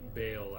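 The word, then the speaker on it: Baal: Should be bale avatar. seems like, you know, spelled the same way as the Lord of Destruction from Diablo II, Lord of Destruction.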